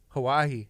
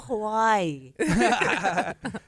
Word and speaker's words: Hawaii: I like how, I don't know, as the Hawaiians, that's how you say that, how they say it, like Hawaii.